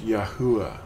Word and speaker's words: Yahuwah: you pronounce it with vowels. It's Yahuwah, just in case someone watching doesn't know.